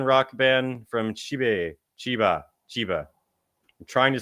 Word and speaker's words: Chiba: Chiba, I'm trying to say it right.